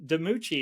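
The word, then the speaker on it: DiMucci: this interview which is your relationship with Dion deuchi is that how you pronounce the surname uh yes it is yeah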